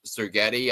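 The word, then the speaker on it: Ferentz: I believe his last name is pronounced Sergetti. I think that's how it's pronounced.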